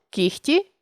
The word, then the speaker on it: кігті: чітко не оглушуємо їх але є 5 слів в українській мові у яких відбувається уподібнення за глухістю це легко вогко кігті нігті дьогтю у цих словах